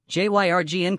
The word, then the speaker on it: Jürgen: Jurgen Norbert Klopp, German pronunciation, Jürgen Klopp, listen, born June 16,